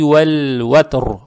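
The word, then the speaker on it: وَالْوَتْرِ: Лам произносится мягко, то есть валь, валь, ватр.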